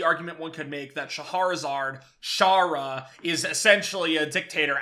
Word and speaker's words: Scheherazade: The narrator, her name is Scheherazade, I believe is how it's pronounced. Scheherazade.